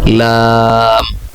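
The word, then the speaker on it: لام: এর পরবর্তী অক্ষর আমি উচ্চারণ করছি লাম।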